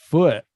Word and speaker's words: foot: Foot. Like somebody hits you in the stomach.